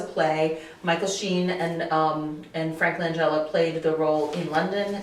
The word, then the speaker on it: Langella: Did I pronounce that right? Frank Langella. Langella, yeah.